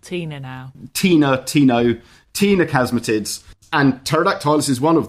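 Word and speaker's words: ctenochasmatids: called the tinochasmatids c-t-e-n-o-c-h-a-s-m-a-t-i-d-s t-no casmitids but spelt with the silent c see i'm just going to think of a lady called tina now tina tino tina casmatids and pterodactylus is one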